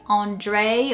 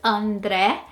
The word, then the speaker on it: André: And I chose this name because it's so common to hear people say Andre or Andre, and it's just not how the name sounds in Portuguese at all. It's André. The Dre is not Dre, it's Dre.